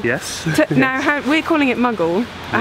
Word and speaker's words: Maghull: At Maghull North.